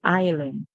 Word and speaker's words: island: If you're using the American pronunciation, you would say island, island. Okay? Do not make the sound.